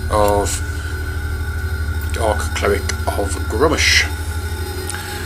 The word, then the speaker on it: Gruumsh: dark cleric of grommish still not right here with its grummish or groups I've heard it pronounced both ways but um I think the majority of people I know pronounce it grummish so I will continue to do so so let's see what